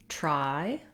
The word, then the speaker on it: try: The words try and train don't really have a ch sound, but the reason this was asked is that probably the speaker was mispronouncing those TR sounds and noticed that when they used something more like a CH sound, they were closer to correct.